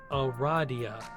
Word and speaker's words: Aradia: loud because she immediately corrects you it is pronounced o radhiya that makes sense although you've just met you